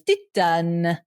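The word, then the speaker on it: Titane: How they say it in the little pronunciation thing is Titan.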